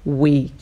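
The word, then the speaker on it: Woe: are kick starting it from this town called we so let me spare that for you so that you pronounce it properly it is spelled w o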